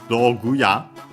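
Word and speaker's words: 道具: Another Chinese compound, but this one an exception, accented on the last mora.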